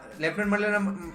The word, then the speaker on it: Lieutenant: त्याचं प्रोनाऊन्सिएशन मराठीमध्ये लेफ्टनंट, पण जेव्हा लेफ्टनंट म्हटल्याच्या नंतर लगेच आपण इमॅजिन करतो की याची स्पेलिंग LEFT पासून सुरू होईल किंवा LEFT असेल किंवा LEFT पासून सुरू होईल, पण तसं नाहीये.